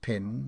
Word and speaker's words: pen: side of the half peny Judy mcquirk says he her Mark footnote pin read pen it formerly was vulgarly pronounced pin in Ireland her mark it was